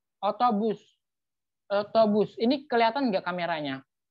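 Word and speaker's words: otobüs: Tadi di dalam bahasa Turki, U yang ada titik duanya, cara membacanya itu manyunkan bibirnya ke depan, sebutkan huruf U. Otobus.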